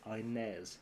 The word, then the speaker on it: Inez: I have to remember it is pronounced Innes when it's a guy's name, and it's Inez when it's a girl's name as well.